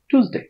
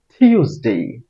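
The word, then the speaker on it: Tuesday: মান দেই মানডে হবে না চার নাম্বারে আমরা উচ্চারণ করি টুসডে টুসডে আজকে থেকে আমরা উচ্চারণ করবো না আমরা আজকে থেকে করবো টিউসডে টিউসডে কিরকম টিউসডে এর উচ্চারণ আইপিএস সাউন্ড হচ্ছে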